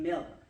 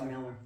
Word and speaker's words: Miller: One thing you might be wondering is we grew up pronouncing our last name Miller, and we would be in big trouble with our grandmother Miller if we called it Mueller. So that's why Jody says Miller.